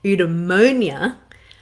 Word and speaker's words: eudaimonia: different name see if i can get the pronunciation right right eudaimonia much of what he said is still relevant